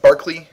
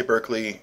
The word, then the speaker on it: Berkeley: George Barkley uh yeah I know it's pronounced Barkley um he was European he was Scottish in fact um so even though it looks like Berkeley you really want to say Berkeley it's it's Barkley uh it'll Tak I'm